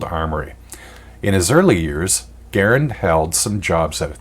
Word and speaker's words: Garand: publicly his stated that his name rhymed with errand which is why I pronounce it that way the US military however decided his name should be pronounced Garand and that's how his